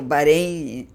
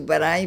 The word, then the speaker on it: Barém: E o Barem, Barem ou Barém, eu pronuncio Barem porque me parece ser melhor.